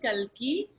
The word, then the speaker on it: Kalki: off with this really fun story about the pronunciation of your name, which the world gets wrong, right? Yes. Aaj ki nahi, Kalki.